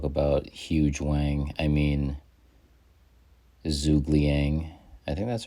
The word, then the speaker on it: Zhuge Liang: word huge in it liang rhymes with wang and his ability is